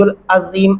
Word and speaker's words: العظيم: عین گلے سے ادا کرنا ہوگا. وَهُوَ الْعَلِيُّ الْعَظِيمُ، الف نہیں پڑھنا، عین.